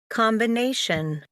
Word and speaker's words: combination: So do we all agree it's on the second syllable? Combination. Yeah. Okay. So we say that there's one on the second syllable. It's not on the com, yeah, because the com, if there was a schwa, it will be combination. Okay, so we say it's on the B.